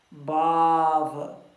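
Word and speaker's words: bhāva: Então, a palavra é BH, A com tracinho em cima, VA. Isso se pronuncia como Bava.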